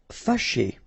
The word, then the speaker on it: fâché: Fâché. Okay, so remember that here, even if you've got this accent circonflexe on the top of A, well, technically it doesn't really change the pronunciation.